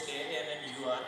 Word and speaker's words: Kannur: So we changed our, earlier it was KANNUR, now it is KANNOR. So still we pronounce it as Kannur.